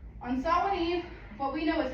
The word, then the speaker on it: Samhain: I know it doesn't sound like Samhain, but they're Irish. So that's how it's said. On Samhain Eve, what we know